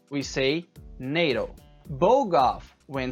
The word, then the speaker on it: NATO: Acronyms are spoken as a word. So NATO, North Atlantic Treaty Organization, is not pronounced NATO. We say NATO.